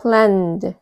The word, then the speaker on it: planned: 그리고 여기 밑에 planned. 무엇이 묵음인지 아시겠어요? 여기 뒤에 있는 E가 묵음이에요. N은 2개 있지만 소리가 나는 철자는 하나인 거죠. 이름절 planned, planned.